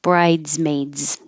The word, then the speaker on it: bridesmaids: And if it's plural, the S will sound like a Z. Bridesmaids.